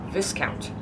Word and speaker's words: Viscount: Why is there an S there? Viscount.